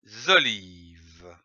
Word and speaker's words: olives: Les olives. Ici, attention, à olive, on ne prononce pas le S final.